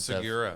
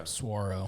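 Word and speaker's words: saguaro: Wait, how do you say it? Swaro. Really? Yeah. I've always said Segura.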